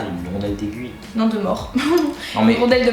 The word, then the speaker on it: mors: Bon, déjà, c'est un mort, oui, un S à la fin, mais ça se prononce mort.